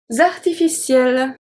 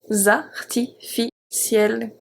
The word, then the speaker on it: artificiel: Artificiel. Artificiel. Here we have the C, it's pronounced as a S, and then we have the E pronounced as a E because it's before 2 consonants.